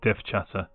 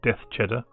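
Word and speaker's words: DevChatter: see it's brought back dev chatter. There are limits to its abilities. So one of the jokes about dev chatter is that people mispronounce his stream to be death cheddar.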